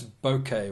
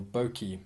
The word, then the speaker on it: bokeh: The 1.8 aperture is beautiful to use in low light conditions, and it has a very nice bokeh or bokeh, or however you want to pronounce it.